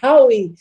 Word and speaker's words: Hawi: Olha, é Hawi. Em árabe, o H ele é pronunciado.